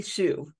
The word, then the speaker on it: Hsu: her name's Dr Jenny I can never say it right Hsu Jenny Shu Dr Jenny Shu and she's been a